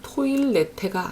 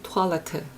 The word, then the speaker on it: Toilette: 요거는 이중모음에 들어가지 않고 외래어이기 때문에 그 외래어가 원래 가지고 있는 발음을 존중해서 읽어줍니다. 그래서 die Toilette 이렇게 읽어주고요.